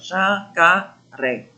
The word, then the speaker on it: jacaré: Na palavra jacaré. Olha, jacaré. Olha mais forte, ó, jacaré.